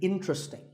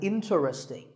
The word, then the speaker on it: interesting: word number 11 is interesting this is mispronounced sometimes as interesting but there are only three syllables sting and the stress is on in so the word is interesting number 12 is Hotel